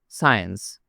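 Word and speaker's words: science: এখানে এসকে উচ্চারণ করা হয় না। পরের উদাহরণটা দেখা যাক। সায়েন্স।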